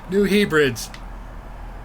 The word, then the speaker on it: New Hebrides: That's how you pronounce it, Enderman. New Hebrides.